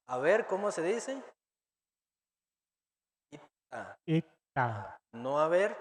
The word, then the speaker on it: 있다: Entonces, por ejemplo, tener o haber, haber, así se escribe como en amarillo y se pronuncia como el rojo. ¿Cómo se dice haber o tener? 있다, Ita.